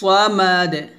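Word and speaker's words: الصمد: আল্লাহু আহাদ আল্লাহুস সামাদ সামাদ বলবেন না আমরা অনেকে সামাদ বলি সামাদ না মোটা করে আল্লাহুস সামাদ তারপর লাম লাম ইয়ালিদ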